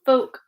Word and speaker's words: folk: If the letter L comes after the vowels A, O, or U, and the vowels are in the middle of the word, then the L is silent. So folk, walk, half, yoke.